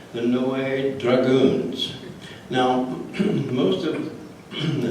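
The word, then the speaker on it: Noailles: he marries this lady Adrienne de Noe you pronounce that in no way I know it doesn't look like it but that's it and I have uh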